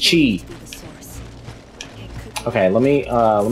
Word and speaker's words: Qi: me not yet anyway Qi is pronounced Chi okay let me uh